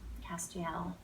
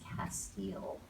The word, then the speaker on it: Castiel: does have a history Castiel whose name I now know how to pronounce properly thanks to the people on social media who jumped to my uh correction when I announced it as Castile so I will never